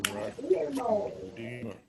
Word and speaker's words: Vladimir: Or actually, as it's pronounced correctly, Vladimir.